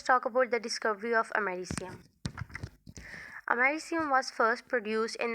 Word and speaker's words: americium: introduction americium is pronounced as a marissian not american its actual pronunciation is americium it has a silvery white appearance and has